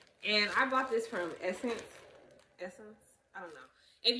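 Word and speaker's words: SSENSE: seen it before but you probably thought it says like suspense or something like that but really apparently it's essence because i googled the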